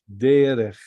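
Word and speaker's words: דרך: So this is dalet resh kaf, and we pronounce it derech. Derech. Why I said che? Because there's no dot. All right, there is no dot. It's che. Derech.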